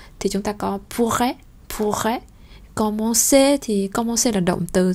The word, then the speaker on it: commencer: Các bạn xem từ trên xuống dưới thì chúng ta sẽ có câu 1 này, commencer, hai chữ cờ nhưng một chữ đọc là cờ, một chữ đọc là sở.